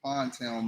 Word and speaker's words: Pondtown: And the town that I grew up in was called Pondtown, Maryland. That's how it's pronounced.